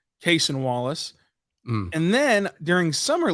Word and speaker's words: Cason: presti was calling him caisson and then on his rookie intro presser Cason said you can you can pronounce it either way but he prefers case and Wallace and then during